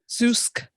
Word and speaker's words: Zoosk: So like zoo, and then SK. Zeusk.